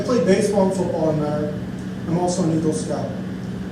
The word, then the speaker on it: Mentor: I went to Mentor Public Schools, born and raised in Mentor. That's how we pronounce it, Mentor, not mentor.